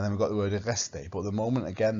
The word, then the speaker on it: reste: We don't pronounce T at the end. Il reste.